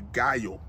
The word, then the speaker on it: Gallo: balls to find out how to pronounce it it is called a guyo okay from what I